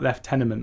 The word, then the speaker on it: lieutenant: British say It's lieutenant. None of this French bull.